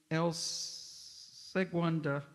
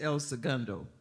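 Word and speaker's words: El Segundo: the aerospace corporation in El Seua California. Don't know how to pronounce it, but sorry about that. I'm from California. It's Elsa Gundo.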